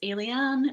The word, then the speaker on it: Aylie: is the case um it's three syllables alien very similar to the word alien um but alen uh